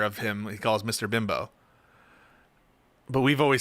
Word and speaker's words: Bimbo: Bimbo. Bimble? It's not Mr. Bimble.